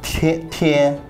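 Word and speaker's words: 天: Chinese people, pronunciation is tian, but it's sky.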